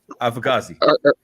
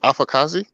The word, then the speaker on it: afakasi: I want to hear try and say it correctly just one time alkazi no U put it up there dirty I got to read it say AI wait afakasi yeah there you go beautiful there my my